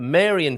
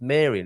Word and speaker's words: Marian: of the most important Maran feasts what a lovely adjective and I am I think I'm pronouncing that right if it's to do with Mary it's Marian isn't it rather than Maran but anyway um it